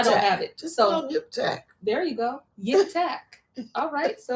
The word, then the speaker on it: Yiphtach: His name is spelled Yiphtach, and I feel like it's a lot with the throat. Yiphtach. I don't have it. Just so Yiphtach.